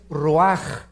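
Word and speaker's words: רוּחַ: Neph se pronuncia nepej porque la ch en hebreo es nepeg y la palabra espíritu es roaj. Se escribe ruach.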